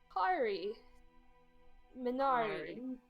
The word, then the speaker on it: Kari Minari: My name is Kari Minari. Minari. Yeah, Yes. it rhymes.